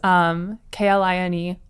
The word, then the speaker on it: Kline: My handle is hklineart, and it's not spelled like Calvin Klein. It's Kline. A lot of people think it's HK Line Art, but it's H Kline Art.